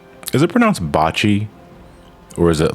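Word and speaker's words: Bocchi: But I don't know how to pronounce that show. It's the anime, right? The one with the anxiety girl. Oh, it's Bochi.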